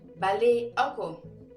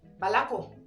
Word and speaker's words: balé oko: 10, Également, les gens peuvent dire balako. Voilà. Naturellement, les gens disent balako, balako, baliako. C'est un peu difficile de prononcer le E, de balé, encore. Balako, balako, balako, balako, dans la rapidité, quoi. Mais cela revient à la même chose.